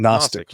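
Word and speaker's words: Knostic: Nostic. Yeah. Yeah. Yeah. It's spelled with a K. K N O S T I.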